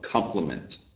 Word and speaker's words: compliment: compliment approach all right we'll stress the first the first syllable of compliment compliment compliment all right and good